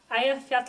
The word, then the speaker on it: Eyjafjallajökull: those of you troubled by pronunciation this is pronounced aat repeat after meat now we will hear from